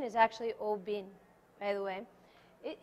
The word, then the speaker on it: Oban: first class is open open also known as Oban however the correct pronunciation is actually o bin by the way it it's very confusing and